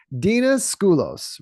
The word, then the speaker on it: Dena Scoullos: Today I've got with me Dena Scoullos, right? Did I pronounce that right? Perfect. Yeah. Scoullos, or otherwise known as Miss Tech Queen, right?